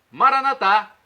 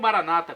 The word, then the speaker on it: Maranatá: Jesus, para o português: Maranatá, vinde Senhor Jesus. Ou Maranata, como dizem nossos irmãos separados, os evangélicos ou protestantes. Não importa, a pronúncia e o significado é o mesmo.